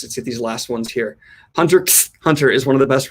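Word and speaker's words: Hunter × Hunter: TBR by the way you don't pronounce the X and Hunter x Hunter hunter hunter ok Hunter hunter is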